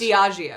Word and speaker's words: Diageo: Now, I always mispronounce them. It's Diageo.